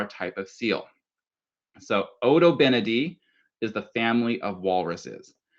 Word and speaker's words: Odobenidae: So, the first one is pronounced Odobenidae. So, in your family groups, in your school classrooms, I want you all to say with me Odobenidae.